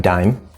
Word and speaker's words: dime: sound next we have dime one syllable remember a silent e this is just telling